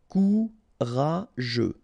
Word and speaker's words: courageux: Courageux, final X not pronounced. G-E-U together, they will give you this je, okay? Courageux, courageux.